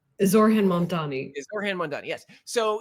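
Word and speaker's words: Zohran Mamdani: Yes, Mondami, whatever. Oh my God. Okay. Say his name correctly so people know. Zorhan Mamdani.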